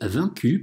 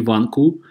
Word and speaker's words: vaincus: «А» и «н» – это «н-осовая», друзья, это не «ван-ку». Это «vaincu», это «n-осовая», «vaincu par les Romains».